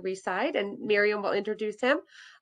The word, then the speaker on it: Reside: we have today whose last name happens to rhyme with seaside we just learned it's doug reside and miriam will introduce